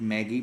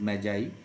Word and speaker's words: Magi: So, gift of the Magi, this word usually the people pronounce it Maggie but it is Magi.